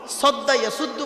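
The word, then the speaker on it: صدّ يصدّ: দেখুন তো বাপেরা, এখানে সোয়াত অক্ষরটি আছে, সোয়াত অক্ষরটি আছে, সোয়াত দিয়ে সদ্দা ইয়াসুদ্দু মানে হচ্ছে বাধা সৃষ্টি করা। কেউ যদি সিন উচ্চারণ করে, সাদ্দা ইয়াসুদ্দু মানে বাধা।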